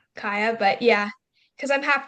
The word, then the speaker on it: Kaja: Kaja. Yeah, but the Y is pronounced as a J, so it's just Kaya.